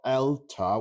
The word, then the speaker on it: Eluta: There's a site called ELTA, which is spelled ELUTA.